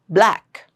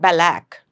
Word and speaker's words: black: Black. Not balac. Black.